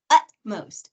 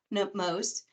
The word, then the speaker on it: utmost: So that includes words like cacophony or moot or utmost, not upmost, and not mute, and not cacophony.